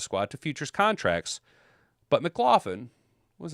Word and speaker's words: McLaughlin: Mick, not Mac, McLaughlin, to a future contract.